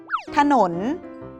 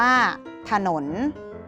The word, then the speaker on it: ถนน: หนม อ่าน ว่า ขนม ถนน มี อักษร ทอ ถุง นำ สะกด ว่า ขอ อ่ะ ถ ฐ หอ นอ อก นอน หนุน อ่าน ว่า ถนน สนาม มี อักษร สอเสือ นำ สะกด ว่า ศ.